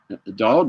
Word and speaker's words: Daoud: It led to 5 years later, the Russians coming in and wiping out General Daoud's entire family. Daoud, excuse me, is how you pronounce it.